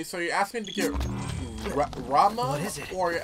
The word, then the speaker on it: Ramuh: Rama, I'm still called Raiham. Raiham awaits. I know it's pronounced Rama, but Raiham just sounds a lot cooler.